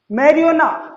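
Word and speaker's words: marijuana: जे silent है यहाँ पर और इसे पढ़ते हैं एलापिनो, एलापिनो, और इट इज प्रोनाउंस्ड मैरिजुआना।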